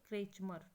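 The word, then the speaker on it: Kretschmer: ठीक है, अच्छे से प्रोनाउंसिएशन सीख लीजिए, क्रेचमर।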